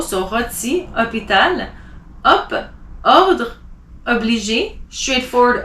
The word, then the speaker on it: rôti: It doesn't change the pronunciation, but it does emphasize a bit more on the O. So rôti, hôpital.